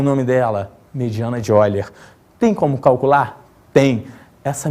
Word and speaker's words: Euler: Escreve-se Euler, mas pronuncia-se Euler.